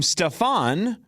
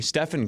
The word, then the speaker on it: Stephen: In Nike's presentation, they famously called him Stefan and had a leftover slide from a Kevin Durant presentation. So Nike botched it. They couldn't they didn't even say his name right and they clearly had